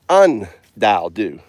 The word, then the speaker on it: UnDaoDu: The UN in front of common isn't uncommon, it's uncommon. So it's UnDaoDu.